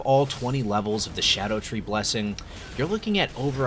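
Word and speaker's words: Scadutree: Many people have been pronouncing this as Skadu Tree or Skadu Tree, but I recently learned that Skadu in Old English is pronounced Shadow, so they really should be called Shadow Tree fragments, and also it just makes more sense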